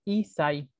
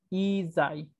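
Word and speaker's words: 一歳: Hay una pequeña tsu ahí. Y esa tsu me duplica el siguiente sonido. Entonces, no se pronuncia Isai, sino Isai, con doble S.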